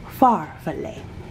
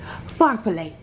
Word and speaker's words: farfalle: is called chicken of florentine and that is pronounced far fillet yes i googled it knowledge is power get you some yes pharfalay meaning butterfly because of the noodles the noodles